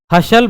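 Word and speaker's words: hustle: एस टी एल ई अब यहां क्या साइलेंट है टी साइलेंट है हसल वसल देखो हसल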